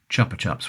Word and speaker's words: Chupa Chups: However, this is one of those cases where the company itself has run with the natural British tendency to pronounce things the way we think they're going to be pronounced.